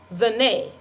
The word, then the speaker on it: Tene: It was here on the Goodwin Plantation on May 16, 1781, that Bina had her first daughter, which she named Tina, pronounced the nay.